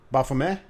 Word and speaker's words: Baphomead: to bomb that bothame Buffum a yeah T is silent folks we've got to hand it wrong for all our lives but yeah I'll put